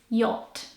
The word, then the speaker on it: yacht: it would be spelled so the CH is silent and the letter A doesn't sound like a the way you say that word is yacht yacht so it would be